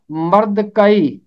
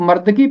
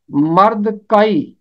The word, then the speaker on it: مردکی: آتا ہے، وہ ہے مرد کئی، جسے اکثر لوگ مردکی پڑھتے ہیں، یہ غلط تلفظ ہے۔ آپ اس کتاب میں دیکھیں، کاف کے اوپر آپ کو زبر ملے گا، یہ ہے مرد کئی۔ آگے ایک اور نام